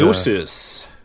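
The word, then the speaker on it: Gnosis: EFT Warrior on my uh how do you pronounce it again little bit nosis nosis it's just a yes uh it's it's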